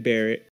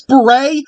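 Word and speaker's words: beret: former US Army Green Barrett oh my god do you seriously not know how to pronounce beray you absolute toe sucker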